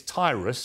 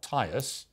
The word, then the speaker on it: Tyrus: uh well Brad uh it's Tyrus for one not tyus it's not trus I